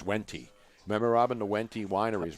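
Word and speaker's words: Wente: It's Wenti. Remember, Robin, the Wenti winery's right there, the grapes? Yeah. How do you spell that?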